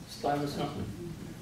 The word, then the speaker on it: Stuyvesant: Stuyvesant.